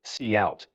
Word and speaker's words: cout: Line 5, cout, pronounced cout, is an object combined